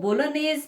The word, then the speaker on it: Bolognese: आज मैं आपको स्पागेटी आला सॉस बोलोनेज बनाना सिखाऊंगी और ये बहुत मशहूर इटालियन डिश है और इसके सॉस को बोलोनेज प्रोनाउंस किया जाता है। जी इसका साइलेंट होता है और इसमें बहुत ज़्यादा